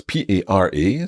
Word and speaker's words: para: Para. Para. And that's P-A-R-A. So it's got a single R. Just watch the pronunciation of that.